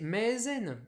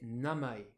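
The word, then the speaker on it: 名前: Ce mot, on aimerait bien le prononcer maezen en lecture sino-japonaise. Mais non, on va le prononcer namae. Ah merde, tout namae. En lecture purement japonaise.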